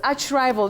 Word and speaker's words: archrival: This archrival, do you say archrivval or archrival? But that combining form, the combining form a r h that is ch you say arch in that word. Arch rival. Okay. Arch bishop. Arch diosis. You don't say ark. Ark. No. For that word.